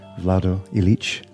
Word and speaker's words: Vlado Ilic: for him i welcome ivan police and welcome vlado elite am i pronouncing your names close to you yes yeah